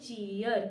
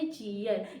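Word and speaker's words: cheer: चीयर। क्या पढ़ेंगे? चीयर।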